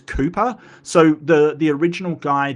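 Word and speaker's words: Kuiper: I I think that it's actually quiper. It's it's Kooper. So the the original guy that named it was a barrel like his his ancestry. It was the same for Cooper. It's just in Dutch.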